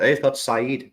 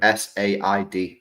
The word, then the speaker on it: Said: He's called Said, but not spelled the same way. S-A-I-D. Said.